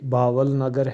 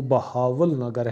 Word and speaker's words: بہاول نگر: صحیح لکھے ہوئے ہیں، جیسے باول نگر ہے، اس کا صحیح تلفظ جو ہے وہ بہاول نگر ہے اور اس میں دو